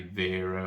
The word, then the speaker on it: Wera: really need to buy wearer or I'm pronouncing it as wearer I know some people say Vera or whatever but for this video's